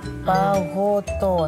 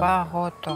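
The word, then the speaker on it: παγωτό: Пагото. Пагото. Нельзя пагото. Пагото. О произносим четко О.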